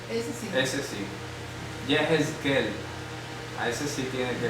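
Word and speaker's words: יחזקאל: Yehezqel. Ese sí. Ese sí. Yehezqel.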